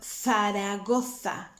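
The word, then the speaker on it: Zaragoza: cafe coffee but cop the letter z is like a th i don't know if you heard of the town faragotha in spain so that is with your tongue between your teeth so two cups the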